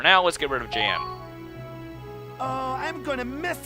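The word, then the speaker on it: Jann: him hey Soldier I'm Jan Walker I'll fight with everything I've got oh okay is he actually pronounces it Jan okay but anyway uh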